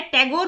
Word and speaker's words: Tagore: तो इस कारण से उनको ठाकुर के नाम से जाना जाता था। लेकिन जो ब्रिटिश लोग थे उनके जो नाम वो ठाकुर की बजाय टैगोर प्रोनाउंस करते थे।